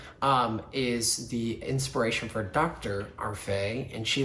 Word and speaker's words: Arfey: Arfey, and she let me mispronounce her last name so that Day rhymes with Faye, rhymes with Arfey.